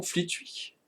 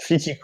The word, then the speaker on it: Flitwick: Comment Fleetwick? Fleetwick? Fleetwitch? Flitwick, ouais. Oh. Flitwick. Oh, Ça il est s'écrit sympa, il est F-L-I-T-W-I-C-K.